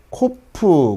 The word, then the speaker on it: ק: 자, 발음은 치, 이런 발음이 날 겁니다. 자, 그 다음에 코프.